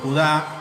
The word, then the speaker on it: Judá: la carta de Judas, o Judá, como se pronuncia su nombre según el griego y el hebreo, y un verso que